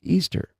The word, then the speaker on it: Ishtar: animal of Easter and that's because Ishtar is pronounced Easter and when with the the date that we're